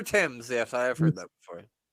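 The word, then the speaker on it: Thames: that flows through London it's pronounced TS the river Tims yes I heard that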